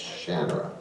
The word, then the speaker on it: Shannara: well first of all you got the name wrong it's shanara and they said what do your fans call it I said well they said that's the majority call it shanara don't they and I